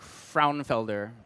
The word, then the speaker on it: Frauenfelder: Mark Frauenfelder, I believe it's pronounced.